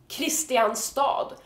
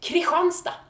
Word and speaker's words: Kristianstad: However, it's not pronounced Kristianstad for some stupid reason. It is pronounced Kristianstad.